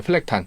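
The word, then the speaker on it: Flecktarn: 네, 플렉탄. 플렉탄. 예. 그러니까 원어 발음대로.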